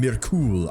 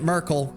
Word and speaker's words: Myrkul: I was calling him Merul. I was giving like an accent to like there's no way. It's just straight up pronounced Merkel, right? And here we are. They're pronouncing it Merkel.